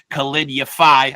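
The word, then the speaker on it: Khalid Yafai: Uh, obviously you had a big win against I'll probably say his name wrong. Khalid Yafi.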